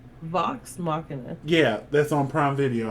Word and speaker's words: Vox Machina: So, I was saying, I'm going to get to it, and then, I watched the Vox Machinima. Am I saying that right? Vox Machina.